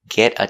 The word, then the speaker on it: get a: one we use is get a tan the te in get is between vowels so you will hear geta geta a fast D sound get get a get